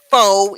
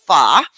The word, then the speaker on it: pho: now i who have always pronounced it faux even though as soon as you said i realize that it is called pha yeah i have never